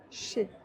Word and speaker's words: chez: Pourquoi on ne prononce pas le Z? Parce que EZ ensemble, ça crée le son E, chez.